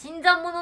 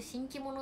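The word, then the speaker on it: 新参者: 新参者って読むんだ。最初新規者って読んで、えってなった。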